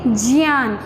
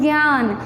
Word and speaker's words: ज्ञान: ऐसे आप लोग बोलते हैं ज्ञान, लेकिन सही उच्चारण है ज्ञान, विज्ञान। तो क्योंकि इसका बाद ज प्लस इय उच्चारण होता है, इसलिए इसका क्या बोलेंगे, ज्ञान। आप लोग ज्ञान बोलते हो, पर सही उच्चारण ज्ञान है।